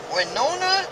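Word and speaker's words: Wenona: Winona, Illinois. I think that's how you pronounce it. W-E-N-O-N-A. Winona, Illinois.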